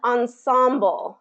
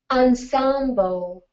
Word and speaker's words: ensemble: it's so with the with the american english pronunciation it really would become ensemble in symbol but um but it has still taken on a little bit more of the french pronunciation it hasn't fully adapted